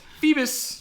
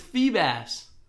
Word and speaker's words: Feebas: Phoebus. It's Feebas. Is it? There's only one S. Yeah, but it's Feebas because it's a bass. Why would it be Phoebus? Phoebus. Think about how gas is spelled.